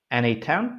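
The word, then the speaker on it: n8n: NA10 pronounced as NA10 lets you design custom automations by connecting different apps and services visually.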